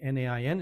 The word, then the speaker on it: Nain: Miracle number 11, Jesus raises a widow's son from the dead in Nain, or Nain, N-A-I-N, it's pronounced Nain in Hebrew.